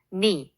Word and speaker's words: knee: knee, 무릎나 knob, 손잡이처럼 kn으로 시작하는 단어들은 K가 psychology, 심리학처럼 푸스로 시작할 때 P가 climb, 오르다에서는 B가 묵음이고 talk, 말하다에서는 L이 묵음이 된답니다.